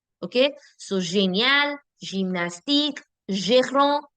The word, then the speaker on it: génial: So, génial, gymnastique, gérant, girafe, géant, génération. These are the soft sounds. It will never be genial, gymnastique, girafe, génération. No, never. Why? Because the alphabet G is been followed by E, I, and Y. And when that happens, I get the je sound.